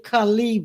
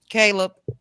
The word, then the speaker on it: Caleb: And Teresa, she say Debbie, you got Khal Khalib Williams. Who is that? Caleb. Yeah, that's probably the name. I said it wrong.